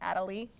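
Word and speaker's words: Adélie: little penguin is called adelaide so it's an adelaide penguin on snow he can walk or slide on his belly adelie belly i guess it's pronounced adelie all right do you guys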